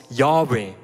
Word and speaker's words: Jahwe: Im Hebräischen gibt es keine Vokale, darum, man ist sich nicht ganz sicher, wie das ausgesprochen wurde, aber es gibt ein Konsensum bei den bei den Gelehrten und bei den Rabinen, dass dieser diese Buchstabengruppe, diese Konsonantin wurde als Jahwe ausgesprochen.